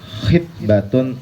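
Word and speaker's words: خِطْبة: Kalau khoknya kasroh, khitbatun artinya lamaran. Tapi kalau khoknya domah, khutbatun.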